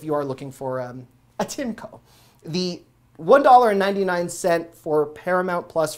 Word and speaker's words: Tineco: The Tinco, I had to look up the pronunciation. I've been calling them Tinico for a while. You can tell I'm not sponsored. Tinco.